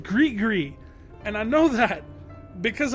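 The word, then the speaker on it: gris-gris: And yes, it's pronounced grig gree.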